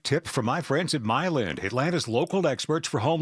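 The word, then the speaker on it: Milend: Slade with another great tip from my friends at Myland, Atlanta's local experts for home loans.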